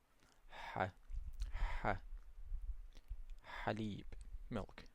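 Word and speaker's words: حليب: ha as in haleeb So, to pronounce this one is as if you are saying ah but you just give it the vibration in the back of the throat.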